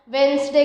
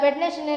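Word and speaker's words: Wednesday: पर same slice वैष्णव वेनसडे कर दिया यहां पर आ साइलेंट होता है वेडनेसडे नहीं वेडनेसडे होता है इसका प्रोनुंसिएशन तो यह भी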